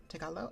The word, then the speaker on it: Tagalog: Tagalo. I think that G might be silent at the end. Yeah, Tagalo. Yes, good. I had it right. Um, so we have a pooa. The final G is silent.